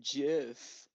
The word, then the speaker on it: Jif: being Jif peanut butter it's pronounced Jiff y I'm in